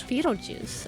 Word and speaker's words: Foetal Juice: FOETAL Juice. I love that. And they're just... Hey, if it rhymes with Beetlejuice, man, I'm all in.